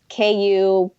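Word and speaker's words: Kua ʻĀina: It was, and I'm gonna probably pronounce it wrong. Kuai'ana. It's KU-ANA. Again, this place was packed,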